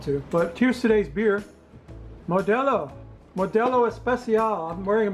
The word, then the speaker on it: Modelo: I used to call it Modelo, but I learned learned We recently learned it is pronounced Modelo.